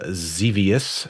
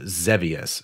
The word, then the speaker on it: Xevious: this recording it is xevious so or i found out it's actually technically pronounced zevious so i've been saying that wrong so xevious everyone does yeah